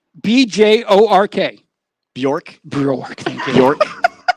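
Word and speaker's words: Björk: Remember Boink? What? What's her name again? No. I said Boink. What is it? I don't even know how to say it. Boink? It ain't Boink. Who? What's her name? BJORK.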